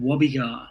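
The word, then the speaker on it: Gwabegar: the pilliga scrub and it's called wobbygar that starts with a silent g so it's saying silent g-w-a-b-g-a-r and i grew up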